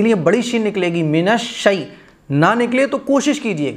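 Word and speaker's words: من الشيطان: غلط ہے، اسی لیے بڑی شین نکلے گی، منش شی نہ نکلے تو کوشش کیجئے گا، جتنی آپ پریکٹس کریں گے یہ لفظ خود بخود آپ کی زبان پر آنا شروع ہو جائیں گے۔ تو منش شے نہیں پڑھا جائے گا، منش شی منش شی،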